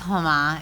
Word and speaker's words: Huma: Am I saying it right? It's Huma.